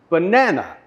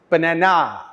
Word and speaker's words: banana: the correct word stress the word banana we have three syllables as mentioned earlier and when we listen we hear that it is the second syllable that has the stress banana however in Thailand I very often hear this word banana with the stress on the last syllable now luckily banana will